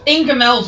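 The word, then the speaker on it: Ingoldmells: It's Ingamells, but it's spelled in gold mells.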